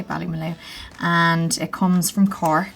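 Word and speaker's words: Ballymaloe: so here we've got i pronounce it valley malou i don't know if it's bali mallow or belly blue but i always say bali malu and it comes from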